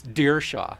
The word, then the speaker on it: Dierschow: It's Dierschow.